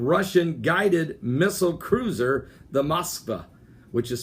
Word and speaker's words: Moskva: On this today, November the 30th, the vicinity of the Guards missile cruiser called the Moskva. It's spelled M-O-S-K-V-A. Moskva.